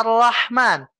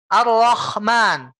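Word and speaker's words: الرحمن: Contoh tadi, Ar-Rahman, harusnya kita bacanya Ar-Rahman. Tapi kalau pangkal lidahnya naik, Ar-Rahman. Itu bukan hak lagi, Pak. Tapi jadi kho.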